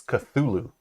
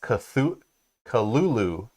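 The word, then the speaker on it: Cthulhu: for Arkham Horror uh it's cthulu which is boldly pronounced cth Kulu or something like that yeah supposedly AR uh HP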